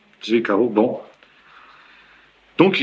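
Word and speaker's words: Zwickau: Z W I C K A U. Comment tu prononces ça ? Zviko.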